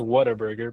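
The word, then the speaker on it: Whataburger: It's I mean, it's pronounced water burger, but Yeah, water burger.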